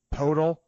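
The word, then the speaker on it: Poeltl: I think it's pronounced Podol, because it rhymes with turtle, kind of. It's like Poto the turtle, and a 2019 first-round pick.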